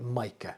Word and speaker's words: Micca: Now, I've looked up the pronunciation and on on Google it says it's Mika, but some people call it Micah.